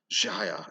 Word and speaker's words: Jaya: But Jaya is what I intended it to kind of sound like. Not quite sh, but kind of like a French J, like a ja, Jaya.